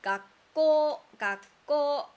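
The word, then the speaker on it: 学校: And this, we have this sound like 学校. You kind of stop breathing.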